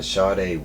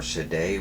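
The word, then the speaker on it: Shayde: to pronounce it but it's uh Sade whisper or shade whisper um it's spelled s-h-a-y-d-e and then whisper um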